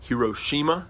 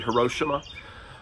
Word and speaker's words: Hiroshima: on the city of Hiroshima is how you usually hear it pronounced I believe it's probably her Oshima between 70 and 80